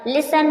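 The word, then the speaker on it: listen: है ई एन दे रखा होगा तो टी साइलेंट होगा पर मींस अक्सर या प्राय हैसन मीस जल्दी करना लिसन लिसन में ध्यान से सुनना लिसन लिसन मींस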